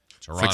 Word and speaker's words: Toronto: I heard that's the correct pron pronunciation. Take out that second T. Toronto.